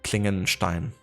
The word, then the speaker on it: Klingenstein: Like Klingenstein, you know, that would be like the English pronunciation, I guess, but given it's like a, you know, German word, it kind of translates to blade stone. Klingen being blade and Stein being stone. So that would be Klingenstein in like actual German pronunciation.